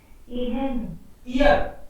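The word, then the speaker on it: Ihr: ईयर, एच बीच में आता है तो साइलेंट रहता है, उसको पढ़ते नहीं, तो ईयर ही बोलेंगे इसको।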